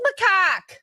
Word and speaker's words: macaque: pronounce macaque? Macaque? Macaque? What? Macaque? A macaque? It is macaque.